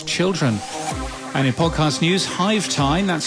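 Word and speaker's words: Hyve Time: And in podcast news, Hive Time, that's spelled Hyve, Hive Time is a brand new podcast all about the business of beekeeping.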